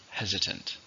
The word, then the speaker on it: hesitant: How many syllables in hesitant? 3, stress on the first, hesitant.